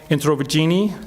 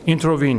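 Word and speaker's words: Introvigne: the Italian Catholic scholar Massimo intro Puccini is that he pronounced that I think so he yeah he writes intervene eeeh okay intervene yeah he writes anti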